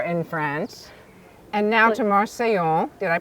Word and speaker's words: Marseille: joie de vivre in France, and now to Marseille. Did I pronounce that correctly?